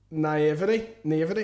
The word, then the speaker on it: naivety: I think he's tried to say naivety.